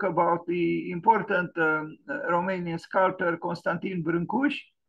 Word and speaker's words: Brâncuși: This is the Romanian pronunciation. He is well known outside of the country as Constantin Brâncuși. People pronounce his name in various ways, but the Romanian pronunciation is Constantin.